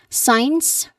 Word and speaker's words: science: Science. Science. Science is my favorite subject. Science is my favorite subject. Your turn. Very good. Make sure to say both syllables. You say it as signs. Signs.